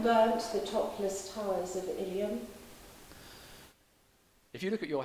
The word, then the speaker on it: Ilium: The Ilium is stressed normally on the first syllable, so you would expect the rest of the word not to be stressed.